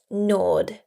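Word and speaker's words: gnawed: Notice here the G is silent. Nord.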